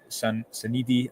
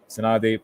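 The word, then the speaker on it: Sannadi: And there was a couple of moments of luck, Sanidi, I think I keep pronouncing his name wrong. Sanadi, pardon me, had a great chance at the front post.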